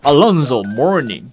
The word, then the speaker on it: Alonzo Mourning: So today's main character for the unboxing is Here's the standard way to pronounce it. Alonzo Mourning I'm not the one saying this.